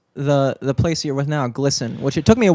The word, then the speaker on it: GLSEN: How did you come across the place you're with now, GLSEN, which it took me a while to figure out how to pronounce that. Well, you I was did like, that perfectly. GLSEN, yeah.